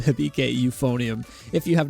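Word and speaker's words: 響け: And that is Sound Euphonium, or I believe the Japanese pronunciation of this show is Hibike Euphonium, which Hibike, does that mean like echo?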